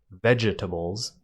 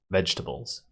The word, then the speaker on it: vegetables: vegetables by the way vegetables has a silent e in between the G and the T it's not vegetables its vegetables vegetables how about this one